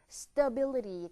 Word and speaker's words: stability: stable 자 그런데 안정성이라고 하는 명사 보세요 모음 발음이 바뀝니다 가 아니라로 바뀌죠 stability 되는 거죠 한번 해볼게요 stabil 한번 더요 stabil